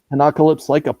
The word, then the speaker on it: Pinocalypse: Pinocalypse, like apocalypse, but with pinup.